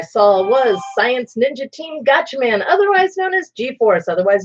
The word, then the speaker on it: Gatchaman: one that I saw was science ninja team gotcha man otherwise known as g-force otherwise known as battle of the planets here in the United States it is felt very weird but it is pronounced gotcha man so anyhow super 17 document whatever fellow planets